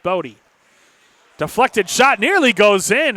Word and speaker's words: Body: Bodie spelled body, but pronounced Bodie.